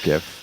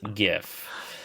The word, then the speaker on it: GIF: around how to pronounce GIF um Steve in 1987 Steve willite releases the graphics interchange format or GIF while working for comp serve he called it a gif with a soft G choosy developers he reportedly